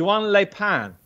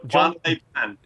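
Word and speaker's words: Juan Les Pins: And anyway, the horse you fancy is Juan Le Pan. Juan Le Pan. You kept butchering the pronunciation. Did I? It's not. Oh, it's John Le Pan.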